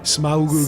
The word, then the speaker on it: Smaug: Tell me again, Steve. Smaug. I'm sure there's a proper way to pronounce it. That is the proper way.